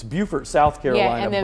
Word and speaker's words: Beaufort: There's one more, Beaufort. So it's Beaufort, South Carolina. Yeah, and then Beaufort, North North Carolina.